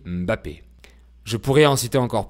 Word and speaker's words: Mbappé: En effet, on ne prononce pas Mbappé, mais on dit Mbappé.